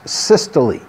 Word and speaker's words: systole: the heart's chamber contracts that's systole when the heart chamber relaxes that's diastole and yes you pronounce the ease at the end so if you were